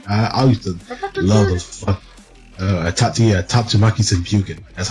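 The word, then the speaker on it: Tatsumaki Senpukyaku: Tatsumaki Senpuken. That's how you pronounce it.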